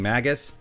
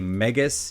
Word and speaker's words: Megas: the subject of pronunciation I kept saying Magus that is incorrect it is a megas you know like a giant robot car you know